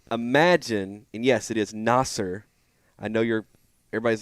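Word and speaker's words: Nasir: around yeah full circle full circle yeah so Nasser Muhammad um is is going up against Reed Shepard tonight and uh I would imagine and yes it is Nasser I know you're everybody's like no it's not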